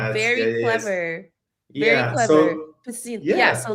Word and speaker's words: Piscina: Piscina. Yeah, so like what problem were you trying to solve when Piscina was created and how did that kind of come about?